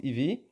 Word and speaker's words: Eeve: voulez dans le détail ça se prononce ivy et cette application vous